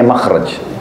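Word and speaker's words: مخرج: ya bahasa Arabnya itu mim Kha ra Jim bacanya makhraj Kenapa digunakan kalimat itu karena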